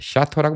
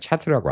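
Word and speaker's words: Château: 원래는 성이란 뜻이고 샤토를 미국 애들도 샤토라는 발음을 모르는 백인들도 많아요. 예. 그런데 안가 본 친구들은 몰라요. 예. 샤토라고 몰라요. 샤트라고 알지.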